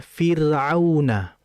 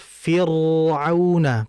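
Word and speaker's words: فرعون: Misalnya, "Fir'auna." Jangan sampai kita membacanya sebagai "Fir'una." Jika itu "Fir," yang tebal, harus dibaca tipis.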